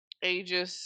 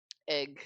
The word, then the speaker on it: Aegis: town, different directions, but Aegis did his. Um, or didn't he type out that it's actually pronounced a different way? Yes, it is pronounced Aegis. Aegis.